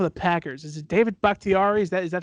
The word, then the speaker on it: Bakhtiari: left tackle for the Packers, is it David Bakhtiari?